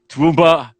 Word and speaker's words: Toowoomba: Did I get that pronunciation right? Toowoomba, Yeah, Australia.